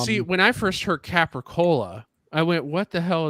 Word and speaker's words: capicola: because we call it we always called it capricola capicola well that's that's what you're supposed that's normal no no no I don't know we never called it with the a at the end of it it's just a couple call yeah yeah that's why